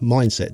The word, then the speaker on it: Mindst: drums it's spelled mind St drums but it's pronounced mindset drums um yeah they got in touch and